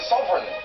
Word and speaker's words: sovereign: Which consonant is silent in the word sovereign? G. G.